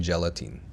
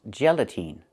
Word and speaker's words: gelatin: The word is not pronounced gelatine. It's pronounced gelatin. The last syllable, the last vowel, is not the long E like green beans. It's the short I like this is. It's more open. Not E, but I, gelatin.